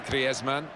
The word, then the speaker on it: Griezmann: before the World Cup how to pronounce his name properly. It is very much his Spanish background. Said he talks to his dog in Spanish and dreams in Spanish. So I think we can pronounce his name the Spanish way.